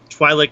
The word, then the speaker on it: Twi'lek: Hey, if I have Jabba, I know he can also take Weequay Guard, or he can also take a Twi'lek Negotiator or Twi'lek. Right. How do you pronounce it?